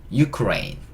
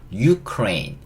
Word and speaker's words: Ukraine: rain, Ukraine, Ukraine. 이게 우크라이나입니다. 한국에서는 우크라이나, 영어로는 뭐라고요? Ukraine, Ukraine, Ukraine. 우크라이나를 우크라이나 하면 못 알아들어요. 그쵸? 어떻게 발음해야 된다고요? Ukraine, Ukraine 이렇게 해야 알아듣습니다.